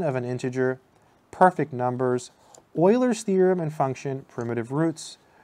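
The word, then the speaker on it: Euler: much cooler but unfortunately it's not pronounced uler it's pronounced Oiler it always makes me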